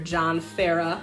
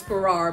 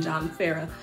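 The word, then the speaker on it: John Farrar: The remixes are, the song was originally produced by her longtime collaborator, John Farah. I always thought his name was Farrar, but it's John, it's the Australian pronunciation, John Farah.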